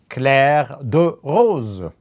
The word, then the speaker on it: Clair de Rose: you do see the Tudor CLA the rose pronounced in French of course what does